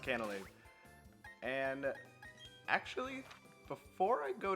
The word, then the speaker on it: Canalave: I looked it up, it is pronounced Canalave.